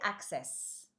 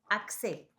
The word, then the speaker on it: accès: Tu as utilisé access accè Access c'est English.